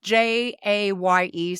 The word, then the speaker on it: Jaye: It's spelled Jaye, so I wasn't sure if it was J or Jai. And it is Jay.